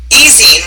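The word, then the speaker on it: ezine: uh papers and pixels it's an easing right that's how you say it I wanted to say e and that's wrong um yes this is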